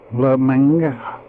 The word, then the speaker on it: Lucomagno: So this is a Lucomagno Pass, that's how you pronounce it. Lucomagno.